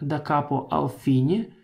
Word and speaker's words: da capo al fine: Эта надпись читается как «da capo al fine», что означает играть сначала до слова «конец».